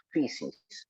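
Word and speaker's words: φύσις: Precisamente porque la palabra naturaleza en griego antiguo, pues aquí yo se las pongo y se pronuncia physis.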